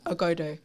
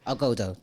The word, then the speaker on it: Ogodo: Ogodo. Ogodo.